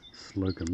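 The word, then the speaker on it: Slowcombe: then Mount Slocum again, and that's S-L-O-W-C-O-M-B-E, Slocum, not the normal way we'd spell it.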